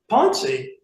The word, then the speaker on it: Pon: And officer Pon, is that how you pronounce his name? Pony. Pon.